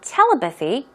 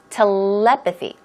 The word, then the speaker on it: telepathy: of course our topic telepathy now it's not telepathy it's telepathy okay let's try it two times out loud telepathy telepathy good job and then our other topic